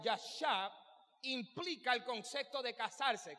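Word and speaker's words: ישב: Me repito, habitar, que se pronuncia yashab, implica el concepto de casarse.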